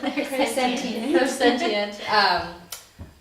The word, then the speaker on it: clairsentient: Clairsentient.